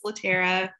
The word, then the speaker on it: Latera: Is it Latera? Hello, yes, you pronounced it correctly. It's Latera.